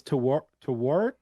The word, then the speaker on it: Tawaret: you try to listen to the way it's pronounced, and it's not. But it's Tawaret.